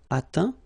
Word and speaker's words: atteint: Okay, as usual, final T not pronounced. Atteint, éteint, feint, peint, teint.